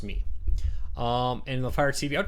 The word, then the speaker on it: Mi: Anthony, picking just between the Mi Box, I know I called it the My Box. I've been since corrected that in China, MI is spelled me, or it's pronounced me.